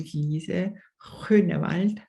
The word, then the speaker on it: Lizè Groenewald: And she's called Lizè Groenewald. Yes.